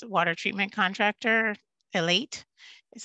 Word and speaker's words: Elite: As I mentioned before, the town's working with a contractor, it's a water treatment contractor, Elite is how you pronounce that.